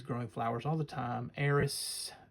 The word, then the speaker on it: Aerith: Eris, I said, but it says Aerith. The more modern pronunciation, or that maybe the correct pronunciation.